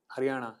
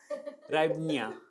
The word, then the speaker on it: hryvnia: The head of state, the president is Zelensky, and their currency is Ukrainian Haryana. नहीं क्या? Hryvnia. Something unpronounceable. What is the Chinese currency?